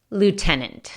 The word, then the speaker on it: lieutenant: es una palabra muy come on pero la pronunciation s lieutenant algunos nope renunciant esse ultima na Ennis wanna